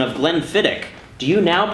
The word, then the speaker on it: Glenfiddich: Nick on YouTube says, having learned the proper pronunciation of Glenfiddich, do you now pronounce it properly?